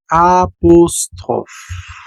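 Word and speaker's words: apostrophe: Sale en francés apóstrofe se le dice apostrof. Apostrof. Entonces vamos a decir el apostrof. Así se dice, el aposof.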